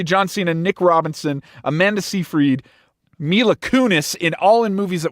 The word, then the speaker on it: Seyfried: Yeah, Seyfried.